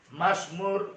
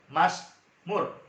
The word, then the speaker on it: Mazmur: Mazmur 103. Bacanya Mazmur, bukan Masmur. Kalau Mas nanti dikira Mas nanti, dikira abang nanti.